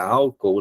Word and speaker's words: álcool: Até falando aqui da palavra álcool, chamando a atenção para a separação em sílabas, né? Eu tenho aqui, ó, álcool, né? Eu tenho os dois Os que se separam nas sílabas, tá certo? Então, por isso que é uma proparoxítona, a terceira de trás para frente, ela é tônica, beleza?